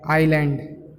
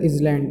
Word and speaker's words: island: S is silent. Island. Many students pronounce it as island.